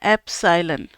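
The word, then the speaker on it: epsilon: अच्छा एप्सिलॉन का आपको पता है ना कि क्या इसको प्रोनाउंस करना है? एप्सिलॉन।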